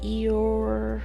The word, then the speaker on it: Eorzea: How do you pronounce that? Eorzea.